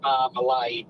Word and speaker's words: Marmalade: Jam is marmalade, but the song is always pronounced as Marmalad.